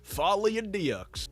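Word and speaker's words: Folie à Deux: Friday I saw Joker Folly ad do or as a Americans say Folly adcs now this is the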